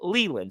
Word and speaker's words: Leyland: second time I remember, because it's L-A-Y. I pronounced it like that, but it's actually said Leland.